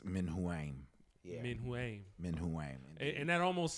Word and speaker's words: Menuam: but in phonetically uh it's actually like men who aim and uh or Min